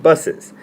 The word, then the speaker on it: bus's: to make it possessive however after nouns that end in an S like bus you write bus and then put the apostrophe afterward but you still pronounce it buses the bus's tire is